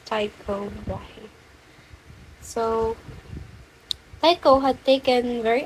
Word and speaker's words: Tycho Brahe: I don't know if I pronounce it right, but it's Tycho Brahe.